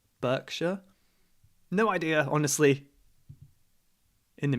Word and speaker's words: Berkshire: down near bristol berkshire this one we say berkshire berkshire no idea honestly in the middle okay not